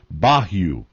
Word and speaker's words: bayou: the glossary here where bayou is uh pronounced bahu it's a small stream